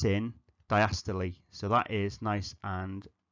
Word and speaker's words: diastole: Now, you can just write diastole, but diastole is how we pronounce it.